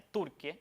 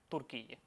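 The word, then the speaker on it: Türkiye: Bueno, decirlo lo más cercano posible, como lo dicen los turcos, que sería Turquie y no turquille.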